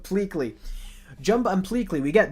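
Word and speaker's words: Pleakley: I always call him Pley but Pleley.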